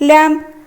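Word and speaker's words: lamb: तो फास्ट हमर अछि लैम्प लैम्प लैम्प लैम्प लैम्प बी होउची ब को उच्चारण करछि किंतु एटा पढ़ा हबो कोन एल ए एम बी लैम्प लैम्प पढ़ा हबो। लैम्प माने हैला मेढा छुआ। तार हमर silent letter Kota B बी होउची साइलेंट लेटर।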